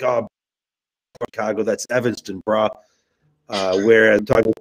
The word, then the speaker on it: Evanston: So the distillery is located in Evanston, if I'm pronouncing that rightly. Correct? Yes.